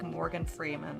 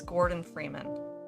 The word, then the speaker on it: Gordon Freeman: is it gordon freeman i always say like morgan freeman or something like that no it's gordon freeman from half-life 2.